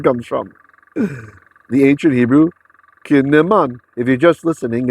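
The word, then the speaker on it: קִנָּמוֹן: If you're just listening, it's spelled kuf or kof, however you like to call that letter. Noon with a dagesh, so there's 2 of them. That's why it's kin ne.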